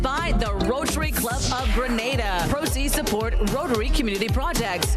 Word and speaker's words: Grenada: It's not Granada. It's Grenada.